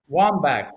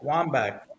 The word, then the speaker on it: Wambach: How do you say his name and spell it? Wambach Wambach.